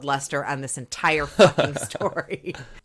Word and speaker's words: Leicester: So it's spelled Leicester on this entire fucking story.